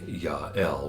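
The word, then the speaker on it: Jael: deborah and jail now her name is actually ya-el which means yahweh is my strong one but jail sounds better because it rhymes with nail and if you don't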